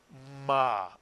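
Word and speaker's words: מה: And here's another very simple Hebrew word using the mem, one syllable because there's only one vowel, and the word is pronounced ma, Mitsuyan.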